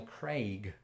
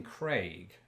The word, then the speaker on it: Craig: Okay, so the Daniel Bond actor, Craig. still Craig. haven't seen any of those Craig, films, they shame should, on me. No, I But can I say pronounce Clark. his name, It's Craig. Daniel Craig.